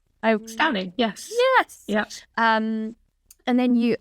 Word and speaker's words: Stauning: Because, of course, your first bottling was with, I might pronounce this wrong, but a distillery in Denmark called Stauning? Stauning, yes.